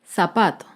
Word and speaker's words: zapato: Un ejemplo de palabra grave sin tilde es la palabra zapato. Zapato se acentúa en la penúltima sílaba, pero no lleva tilde porque termina en vocal.